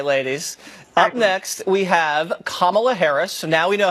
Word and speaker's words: Kamala: Venezuela yeah okay ladies up next we have Kamala Harris so now we know how to pronounce her name Kamala Harris okay and this